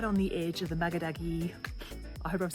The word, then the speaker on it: Makgadikgadi: Actually, in Botswana, we say Makgadikgadi. The KG is very aggressive.